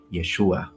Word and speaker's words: Yeshua: though so let's go his name was probably pronounced in his language Yeshua some people try to